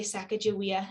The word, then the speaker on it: Sacagawea: throughout this talk um i have said sacajawea and why i say sacagawea is that here at the center uh her people say they again they say sacagawea and they spell it